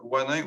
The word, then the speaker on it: Wannyn: Donc, la prochaine personne qui va présenter donc, est Wanin. vous me dites si je ne prononce pas bien votre nom, hein, ça se peut, et je m'en excuse à l'avance.